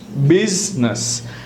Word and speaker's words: business: अगर हम आई की बात करें तो आई में बिजनेस, look at द आई is silent, so we write business but the pronunciation is business.